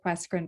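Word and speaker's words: QUESCREN: gives everyone pause carmen we pronounce it question but i've heard many other versions i'm not sure how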